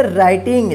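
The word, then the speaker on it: writing: जी इस क्या पढ़ेंगे राइटिंग देखि य प डब्लू जो है ना इसका उच्चारण नहीं हुआ है यानी साइलेंट लेटर है ठीक है जब हम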